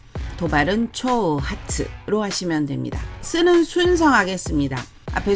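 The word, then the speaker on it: 挑発: 예시 단어를 보시면 도전 도발 많이 들어보셨죠 일본어 발음으로는 도전은 초센 도발은 초우 하츠로 하시면 됩니다 쓰는 순성하겠습니다 앞에 손수를 먼저 하시면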